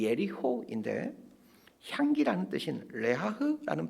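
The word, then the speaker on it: יריחו: 이 여리고에 대한 히브리어 발음이 예리호인데 향기라는 뜻인 레하흐라는 발음과 비슷하여 사람들은 여리고를 레하흐, 향기나는 도시라고 부르곤 했습니다.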